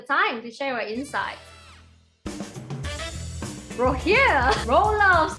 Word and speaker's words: Rogier Roelofs: Rogier Roelofs. It's actually Rogier Roelofs.